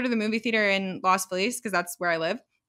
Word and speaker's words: Los Feliz: So I usually go to the movie theater in Las Feliz because that's where I live, and they have like the cheaper.